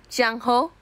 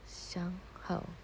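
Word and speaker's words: Zhang Hao: Tunggu, tunggu, Jangho. Bacanya gitu. Shangho.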